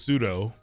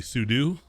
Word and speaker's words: sudo: has a pronunciation so i always thought it was pseudo and then i found out it's probably sudo makes sense makes a